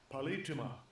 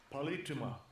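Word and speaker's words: πολίτευμα: Porque como dice aquí la palabra politeuma, que se pronuncia así, Strong's G 4175, Palituma. Palituma.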